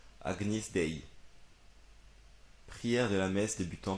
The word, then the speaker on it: Agnus Dei: Ah, ça se prononce Agnis. Agnis Dei.